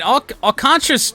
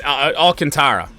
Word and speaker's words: Alcantara: pieces here I mean alantra rather old or sorry it's Alcantara the Tigers I remember back in the day had a had a guy with the same last name and they pronounced it alantra but Sandy alcantar Trevor